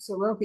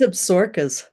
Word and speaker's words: Absaroka: I've been calling it Soroka. You call it what? It's Absarokas. There's a town called Absaroki, but the mountains are called Absarokas.